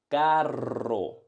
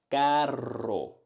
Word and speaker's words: carro: carro, carro, carro. On the other hand, we have expensive, caro, one touch, caro, carro, car, expensive, caro, caro.